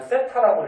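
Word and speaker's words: θ: 이렇게 번데기 모양 요거는 세타라고 읽어주면 돼요.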